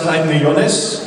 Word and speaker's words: Haydn-Jones: So, this is David Haydn-Jones, and it's actually pronounced Haydn-Jones. So, David Haydn-Jones is actually how you actually pronounce my name.